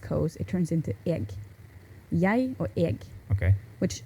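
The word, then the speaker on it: jeg: or maybe like first the standardized word is yay and the pronunciation can vary a little bit but it's spelled yeg this is like j-e-g okay um but so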